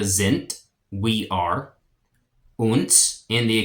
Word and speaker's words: sind: And I know it ends in a D, but words that end in a D make a T sound in German. So it's wir, we, wir sind, we are, uns in